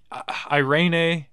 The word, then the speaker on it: Irene: And Irene, is that how you say it? Irene? Irene, Irene yeah.